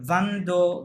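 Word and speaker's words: vingt: হেনু যেটা বলছিল, হ্যাঁ এখানে একটা ন সাউন্ড হবে, ভান্দো, ভান থোয়া, ভান ক্যাট, ওকে, ভান সাইন, ভান সেট সিস, ভান সেট, ভান থুই, ভান থোয়া, ঠিক আছে, শেষে একটা ন সাউন্ড আছে।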